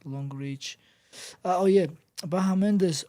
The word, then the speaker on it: Bahamondes: Oh yeah, Bahamondes. How do you say his name? Bahamondes, you said it right.